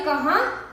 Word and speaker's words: कहां: जाने कहां चले गए तो देखिए दोस्तों यहां पर कहां था इसलिए हमने इसका उच्चारण नाक से किया जैसे कि आप एक